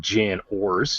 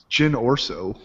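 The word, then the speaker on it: Jyn Erso: Her name's not Jan Ors. It's whatever Jonah. Jyn Orso. There you go.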